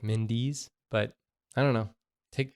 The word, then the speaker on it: Mendes: correcting you because yet Mendes as a that's more of like a Spanish pronunciation of those letters together in that order and I don't know if the British pronunciation is more like Mindy's but I don't know